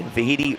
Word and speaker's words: Vahidi: Vahidi rhymes with Tahiti.